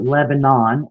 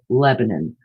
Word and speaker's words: Lebanon: Sylvia Likens was born in Lebanon, and don't think I'm pronouncing it wrong. I know some places are Lebanon, and that's the way that it is spelled, but Hoosiers call it Lebanon.